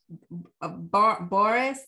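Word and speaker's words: Boreas: um they're greek and they're hard to pronounce but um boris b-o-r-e-a-s is the north wind the um greek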